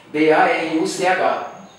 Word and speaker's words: Baruch: Então terminou qualquer palavra em hebraico com CH, você pronuncia Baru, lembra? B-A-R-U-C-H. A gente fala Baruch, Baruch Atah Adonai, tem sempre aquele porque terminou com CH.